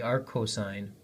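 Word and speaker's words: arccosine: that Theta is the inverse cosine it's actually pronounced Arc Co the AR cosine of 35 and you can verify this with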